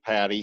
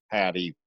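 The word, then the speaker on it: Paddy: by the way my my nickname patty has two syllables folks I do see in the comments that some some people didn't quite catch that but it's two syllables patty with two DS so if you message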